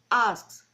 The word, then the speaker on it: asked: Ask and in key is a voiceless sound, adding ed, but I pronounce asked, like a T, asked.